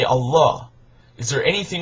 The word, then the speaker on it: Allah: And in Arabic it's pronounced Allah, that it means God, no different.